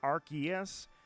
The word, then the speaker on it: Arceus: archangelus and deus deity uh deus is not uh like they pronounce it officially arceus but it's not dias it's deus in latin so archangelus and deus